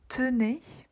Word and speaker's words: tenez: Puis, pour nous et vous, on va avoir le E qui est silencieux, nous tenons, vous tenez.